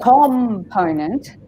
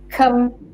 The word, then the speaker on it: component: So instead of saying component, it's component. The po is stressed, not the com.